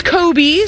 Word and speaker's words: Coby: mispronounced your name earlier it wasn't Toby it's Coby so excuse me Coby with a cot sound not a tough sound Coby you say your